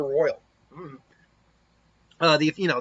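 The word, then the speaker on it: Roil: uh apparently it's called apparently it is called the royal i i would it looks like it's spelled roll but i guess it's the royal uh the if you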